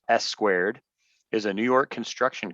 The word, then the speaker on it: SQ4D: just for little things sq4d which they pronounce s squared is a new york